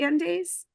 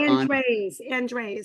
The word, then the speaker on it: Andres: And do I say it right? Andes? Andes? There's an R in there. It's Andres or Andres.